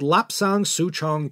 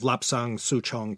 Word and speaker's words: Lapsang Souchong: It's called Lapsang Souchong tea. In Mandarin, this would be pronounced Li Shan Xiaozhong.